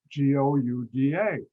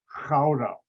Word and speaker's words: Gouda: in the town spelled g-o-u-d-a anybody ever hear that cheese g-o-u-d-a americans pronounce it gouda industry g is a hard ch sound and because i know